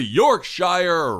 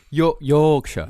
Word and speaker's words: Yorkshire: So today's episode, this will be a twoparter, but the first part of the Yorkshshire ripper. Did I say it right? No, not Yorkshshire. It's Yorkshire.